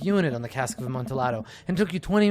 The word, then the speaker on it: Amontillado: Right, technically the pronunciation is Amontillado, but that's okay, sure.